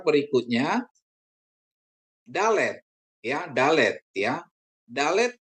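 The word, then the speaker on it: דלת: Dalet dibunyikan seperti D untuk kata daerah ya.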